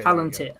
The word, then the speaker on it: Palantir: He said plant, am I pronouncing? You can read that too, right? Palantir. Okay. Palantir.